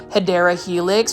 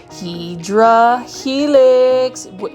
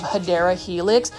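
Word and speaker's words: Hedera helix: or the correct way to say it is hadera Helix for those that are new to this channel I say hedra Helix um intentionally because that's how I used to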